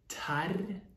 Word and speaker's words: Terje: We do have the rolling R here, if you're not familiar with it. Okay, so Terje.